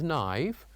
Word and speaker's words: knife: The first one was knife. We say that the K is silent.